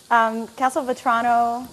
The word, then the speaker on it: Castelvetrano: Do you remember how I pronounce those olives? Castelvetrano olives. Is that right? Castelvetrano olives. Yeah, perfect. Castelvetrano.